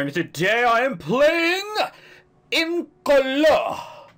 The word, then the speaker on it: Incolore: Hello there, today I am playing Incolore. I had to pronounce it like that because apparently it's French.